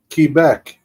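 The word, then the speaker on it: Québec: It's pronounced Kebec.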